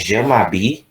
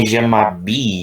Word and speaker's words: je m'habille: Ini je m'habille. Ini je m'habille ya, kayak ada y-nya, tapi kalau mau dibaca y-nya juga nggak apa-apa, agak susah memang.